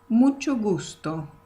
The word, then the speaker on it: mucho gusto: So even though it's two words, you can say it like this. Mucho gusto. So it sounds more connected one to the other.